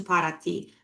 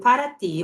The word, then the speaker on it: Paraty: before we drive to Paraty. And Paraty, or Paraty, the way they pronounce it in Brazil, is a historic little town 3 hours away from Rio.